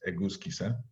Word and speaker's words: Egusquiza: My last name is spelled Egusquiza, and is pronounced Egusquiza.